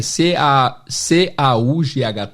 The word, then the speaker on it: caught: Fica caught. A escrita também é C-A-U-G-H-T, mas a pronúncia é C-O-T, caught.